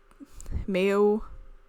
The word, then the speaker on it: Mayo: The name is from the Irish Mayo, much like the condiment.